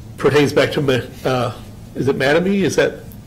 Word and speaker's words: Mattamy: I think if you go through, this pertains back to, is it Mattamy? Is that? Mattamy. Mattamy, okay.